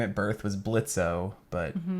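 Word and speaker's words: Blitzø: kind of saw there Blitz is the boss uh the O is silent um it's okay his his given name at Birth was blitzo but the O is silent now he goes by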